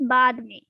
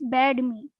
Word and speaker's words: बाद में: After means बाद में, बाद में. This is BAD. So you cannot pronounce the meaning of after is bad me. It will be बाद में, बाद में.